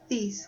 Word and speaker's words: these: E o último E no final da palavra nós não pronunciamos. Então vai ficar these, these, this, these.